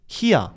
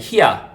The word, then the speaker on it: 희야: 아무래도 이게 발음을 할 때 형아라고 하면 뭐라 해야 될까? 아까 전에 제가 얘기를 했었던 것처럼 대구에서는 굉장히 말을 줄이고 또 빠르게 이렇게 편하게 얘기를 하기 때문에 이게 말이 딱딱 끊기니까 좀 편하게 하기 위해서 밑에 이응 받침도 빼고, 이제 여라는 그 뭐라 해야 돼, 모음이 굉장히 발음하기가 좀 까다롭다 보니까 좀 발음하기 편한 이를 붙여서 그냥 히야 이런 식으로 굉장히 부드럽고 빠르고 편하게